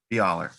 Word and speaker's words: Byler: We have Professor Will Lindsay here, students Nick Augustin and Byler. Is that how you pronounce it? Close. Dialer. Byler.